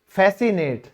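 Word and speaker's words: fascinate: ठीक है, और रिझाना, किसी को आकर्षित करना, उसे हम कहेंगे फैसिनेट। तो ये भी क्या है, हमारा सी साइलेंट है।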